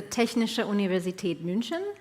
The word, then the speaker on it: Technische Universität München: And TUM Venture Labs, explain to me again how to pronounce it in German. Well, TUM is the acronym, but it's the Technische Universität München.